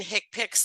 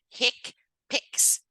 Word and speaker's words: HCPCS: procedures which are often reported with CPT and hick picks level two that's how you pronounce that hcpcs hick picks it's the way it is you know Healthcare